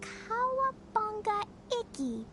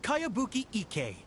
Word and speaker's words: Kayabuki Ike: By Kawabunga Iki. Yoimiya, this is a really strange name. Who's this Kawabunga? It's pronounced Kayabuki Ike. That would be me.